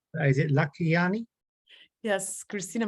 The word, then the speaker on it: Lakhiani: Hopefully, I'll pronounce this right. Is it Lakhiani? Yes, Kristina Mand-Lakhiani.